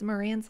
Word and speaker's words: Marantz: and and pronouncing it so it's Marantz like dance yeah well see that's